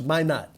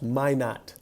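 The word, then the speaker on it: Minott: to leave out Josh Min not somebody corrected me on the Annunciation of his name uh so I want to make sure that I pronounce it correctly Josh Min not uh for the Minnesota Timberwolves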